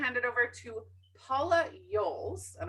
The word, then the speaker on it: Yolles: it over to paula yoles and i hope i pronounced that properly you got it perfect i'm going to let